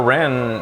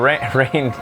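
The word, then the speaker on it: Reynn: Or Rin, always taking the rain. Okay. Lon for the long haul. Well, that lets me know how they're pronounced again. Yeah. Lon for the long haul, or Rain always taking the reins.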